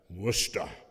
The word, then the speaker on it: Worcester: My East Coast friends tell me that I should pronounce that Worcester.